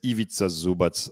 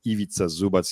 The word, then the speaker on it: Ivica Zubac: a role player, but it's Ivica Zubac. I really like that guy. It's really hard to pronounce because it doesn't make any sense, in Anglo-Saxon way of reading the words. Ivica Zubac.